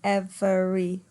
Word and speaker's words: every: Notice that every is 2, not 3, although you could perhaps pronounce it with 3, every, but it doesn't sound very natural.